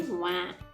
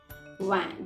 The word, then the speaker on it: vingt: And for 20, we say vingt. Vingt. GT is silent. Vingt.